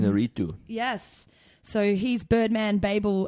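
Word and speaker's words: Iñárritu: Inarritu.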